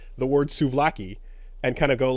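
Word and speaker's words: souvlaki: a uh this is this is another language where v's and B's kind of come together because it's it's spelled out with suaki you know um so anyways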